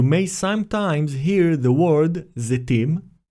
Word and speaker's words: Zetim: According to the Academy of the Hebrew Language, the first alternative is closer to the ancient pronunciation of tzere. We should say Elat, Zetim, and not Eilat, Zeitim.